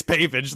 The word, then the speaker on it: pavage: I think it's pavage the way you pronounced it. Pavage. I don't think there's a French element to this word.